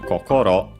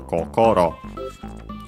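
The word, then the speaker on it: こころ: There are actually various others pronounce it with the accent on the second ko, so in the middle kokoro. But yeah, it depends.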